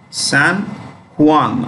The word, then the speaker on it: San Juan: San Juan or San Juan. J is pronounced H.